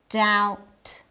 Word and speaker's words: doubt: In the following words, the B is silent. Comb, doubt, thumb.